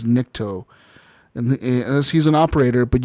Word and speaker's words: Nikto: It was called the Nikto operator, because his name is not Nico. His name is Nikto, and he's an operator.